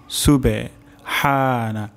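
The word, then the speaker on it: سُبْحَانَ: তাহলে রুকু তাসবিহ হলো সুবহানা রব্বিয়াল আজিম প্রথম শব্দটি হলো সুবে সুবে সুবে প্রথম শব্দটি হলো সিন সুবে সুবে হানা হা উচ্চারণ হবে গলার মাঝখান থেকে সুবহানা তারপর শব্দটি হলো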